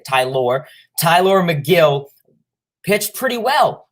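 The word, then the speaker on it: Tylor: we know tyler mcgill that's how you say his name ty lord not not taylor or you know yeah ty lore tyler mcgill pitched pretty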